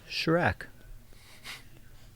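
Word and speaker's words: Kjerag: in last year yeah it's spelled k j e r a g but it's pronounced Shrek now you know and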